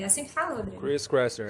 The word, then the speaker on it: Chris Kresser: O Kresser, Chris Kresser? É assim que fala, Rodrigo? Chris Kresser, é esse mesmo. Eu gostei mais da sua pronúncia, como é que é?